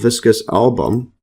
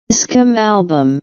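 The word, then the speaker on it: Viscum album: mistletoe European mistletoe uh called viscous album see the pronunciation V visum album yeah visum album attached to a common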